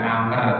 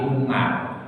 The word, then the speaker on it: Umar: Kalau ain mim ra ini tidak ada wawu, itu bukan amr tapi umar.